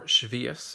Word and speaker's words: Shavuot: moment or two about shavuot or chavis as my father would refer to it in his heavily accented yiddish pronunciation shavuot is one of